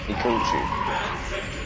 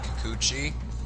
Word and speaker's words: Kikuchi: Kikuchi. You're right. Even Scott pronounces it as Kikuchi. For some reason, even though you guys have pronounced it a little better, Kikuchi.